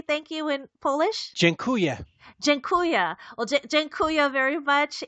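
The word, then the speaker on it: dziękuję: how do you say thank you in Polish jenya jenya well jenya very much and oh by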